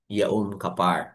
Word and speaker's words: Yum Kapar: ah day of atonement yum yum kapar or others would pronounce it as yaum kapar mga kain okay po